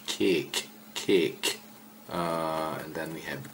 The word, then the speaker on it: kék: Not kek, cake.